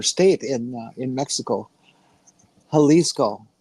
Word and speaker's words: Jalisco: in uh in Mexico, Halisco, which of course is spelled with a J. And it took years for them to be around before people stopped calling them Jalisco. Come on, Milwaukee. You have a huge Hispanic population here. Why are you saying Jalisco?